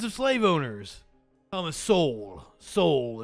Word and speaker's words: Sowell: Sowell is how you say your name.